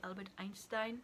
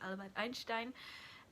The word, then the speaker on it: Albert Einstein: documentary about Albert Einstein, or as Americans say, or English people say Albert Einstein, but it is Albert Einstein.